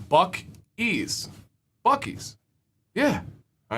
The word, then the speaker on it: Buc-ee's: Give us a word that it rhymes with, right? See, all right. This is Buc-ee's.